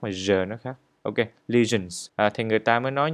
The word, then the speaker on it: lesion: Ở đây các bạn chú ý phát âm cái từ lesion, giờ chứ không phải là sờ. Nếu như các bạn phát âm là lesion thì nó không có đúng. Phải nói là lesion, lesions. Chúng ta phải phải rung cái giai thanh của mình đó.